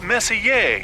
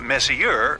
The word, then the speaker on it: Messier: well young lady the m stands for Messier pronounce Messier not Messier as in is your room messier than mine